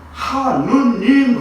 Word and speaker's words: 하느님: 그런데 천주교에서는 하느님 그러잖아요. 하느님. 본래는 하늘님이에요. 하늘님. 우리나라 그 한글 문법상 앞에 니을이 있고 그 다음에 니은이 나오면 앞에 니을은 발음하지 않습니다.